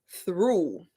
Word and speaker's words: threw: a preposition, which is through. For example, she went through the door. Okay. And the past tense of throw is through. They're both pronounced the same way, but the past tense is spelled THREW.